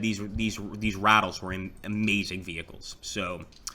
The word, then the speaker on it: Ratel: we are ready so we've got the Ratelle right here or no sorry it's actually pronounced the rattle so the rattle here